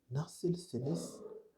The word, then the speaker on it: Nasılsınız: formelle, vous pouvez dire Nasılsınız? Nasılsınız? C'est la forme polie de nasılsın. Donc, la prononciation, c'est nasılsınız, nasılsınız.